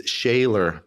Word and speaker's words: Schoeller: It is Shayaylor. Correct. Shayaylor. Yes. That's how my family's been pronouncing it for millennia.